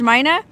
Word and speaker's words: Mina: It's pronounced Mina, and this burger stand is awesome, so I don't think I'll ever be able to pass it up again.